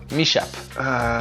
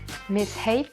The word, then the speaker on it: mishap: Mishap. My shape. Mishape. Bon, on a eu toutes les prononciations possibles, mais c'est en fait mishap.